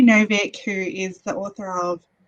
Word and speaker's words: Novik: a deadly education by naomi novak or sorry novick i always mispronounce her name um naomi novik who is the author